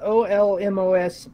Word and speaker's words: Olmos: I'm still here know the correct pronunciation of this town is Oh LM OS Park Texas right yeah I'm kind